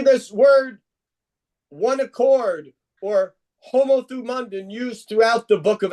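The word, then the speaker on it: ὁμοθυμαδόν: It's a Greek word pronounced homothumundin.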